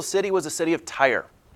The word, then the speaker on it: Tyre: was a city of Tyre not like the stuff you draw you put on your cars this is spelled differently Tyr e is the capital city